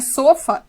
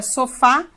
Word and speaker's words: sofá: A palavra não é sofa, é sofá, ela é oxítona e ela é acentuada.